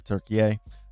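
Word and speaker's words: Türkiye: in which is in Istanbul in Turkey or Turkey if you want to say it correctly.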